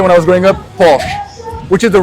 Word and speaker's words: Porsche: So, the Germans would say Porsche. Porche. Correct. So, this is icons of Porsche event. Porsche. Okay. So, even I was saying it wrong.